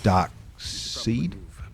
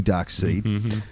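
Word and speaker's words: Darkseid: for for Batman um dark seed is pronounced and it's s i e d I'm only trying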